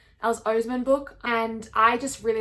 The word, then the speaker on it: Oseman: This is probably my favorite it's Oseman, isn't it? I've been saying it wrong. Alice Oseman book, and I just really love Aled and I love Aled's story and I love Frances.